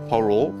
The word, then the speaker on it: parol: Lito, tell us, how you pronounce parol? Parol. Parol. You gotta have that rolling R. Roll, parol.